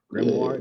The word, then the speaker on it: grimoire: I don't know how to say that word, so I'm not about to say it. Grimoire. Grimoire. Grimoire, Yeah. that's how you say it.